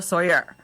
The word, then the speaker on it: Tsoir: without further ado i'd like to introduce tatiana sawyer how are you i'm doing great melanie how